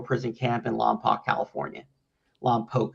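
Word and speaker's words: Lompoc: Lamp Poke is how they pronounce it there.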